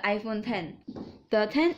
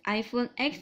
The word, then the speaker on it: iPhone X: review a brand new iPhone model is called iPhone 1013 in the iPhone thing is written as X most of the people will pronounce it as iPhone X but it is actually called the iPhone 10